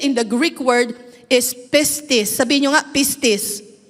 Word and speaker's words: pistis: Pag sinabing have faith, faith in the Greek word is pistis. Sabihin niyo nga, "Pis. Don't forget to pronounce the s hais.